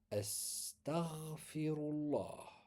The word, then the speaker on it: Astaghfirullah: Alors on fera attention dans la prononciation parce qu'il y a des lettres qui sont emphatiques, sont assez lourdes. Donc il faut bien leur donner chaque lettre à son poids. Astar, le ra il est fort, le GH ici.